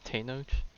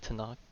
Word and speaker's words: Tenoch: Oh, that's how they pronounce it? Tenoch? Not Tanakh.